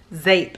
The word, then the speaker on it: Zeep: new to me vendor and this is from zape is the name of the vendor but it's spelled z p I've been wanting to say Z but I know it's pronounced zape and I believe the vendor's name is Heather